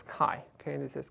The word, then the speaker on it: chi: coefficient and we we pronounce this as chi okay and this is chi so usually people write